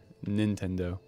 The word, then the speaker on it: Nintendo: in Tendo but now I have to pronunciate the N Nintendo it's in Tendo yep